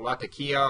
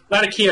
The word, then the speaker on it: Latakia: cleansing in a crucial place that I'm gonna mispronounce called Latakia or LA yeah that's it Latakia is on the coast it's the capital of